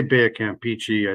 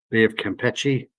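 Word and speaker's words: Bay of Campeche: at the Baya campi here I say Baya Camp pichy I think it's actually pronounced Bay of keei but I've always been saying Bay of cichi so we're going to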